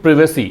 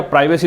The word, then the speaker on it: privacy: Identity and प्रिवेसी, इसको प्रिवेसी या प्राइवेसी दोनों कह सकते हैं, ब्रिटिश और अमेरिकन प्रोनाउंसिएशन का बस फर्क है।